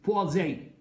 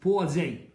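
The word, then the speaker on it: Poiseuille: مدرسه فرنسيه فقالها لي، انا طلعت منها ان حاجه في اخرها زي المدرسي بوازي.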